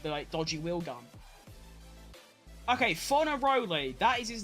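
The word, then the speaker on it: Fornaroli: Okay, Fonaroli, that is his name.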